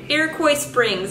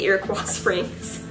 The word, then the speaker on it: Iroquois Springs: to ear ear well how do you pronounce it Iroquois Springs I always want to say you're across Springs I think it's stupid